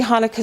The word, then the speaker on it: Hanukkah: And actually the accent would be on the new, Hanukkah. Okay? And that's why you see Hanukkah spelled in so many ways.